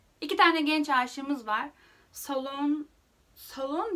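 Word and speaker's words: Sloane: Solon diye okunuyormuş. Solane diye okuyordum ben aslında.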